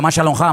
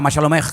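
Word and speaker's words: מה שלומך: Estaban en guerra, pero en hebreo se pronuncia Mashalomha, Mashalomech.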